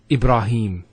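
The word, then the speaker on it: إبراهيم: Next word, Ibrahim. So here, ra. Notice here the ra, fatha, followed by the alif. Once again, it's a long vowel. Ibra. Not ibra. Ibra. Ibra, and then him. Ibrahim.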